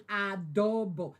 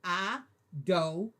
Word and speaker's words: adobo: Thank you, Mikey, for putting adobo. That's how you pronounce it. Not a. Adobo.